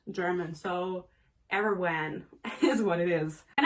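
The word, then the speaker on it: Erawan: to say it's ireland because that's how you pronounce it in german but this is not german so erwin is what it is and i was a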